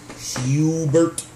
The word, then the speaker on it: Hubert: And the best way to pronounce it is Hubert.